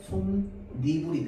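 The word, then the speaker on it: 솜이불: 자, 다음 손플러스 이불. 자, 손플러스 이불도요. 앞에 미음이라는 밭이 있습니다. 자, 그다음에이 있습니다. 맞죠? 자, 그래서 손리불이 됩니다. 발음할 때요.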